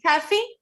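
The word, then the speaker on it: Tefi: Estefania, actually, but you can call me Teffy. My nickname is T-E-F-I, Teffy. So Teffy. I love this. So is that okay if we call you Teffy?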